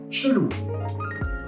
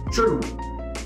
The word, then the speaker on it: chelou: We also have a variation in verlan, where we swap the syllables, and we pronounce it chelou. Louche, chelou.